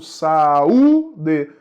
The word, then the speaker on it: saúde: Saúde, é hiato, deveria receber acento no U. Saúde, o é forte, é tônico, formou hiato com a vogal anterior.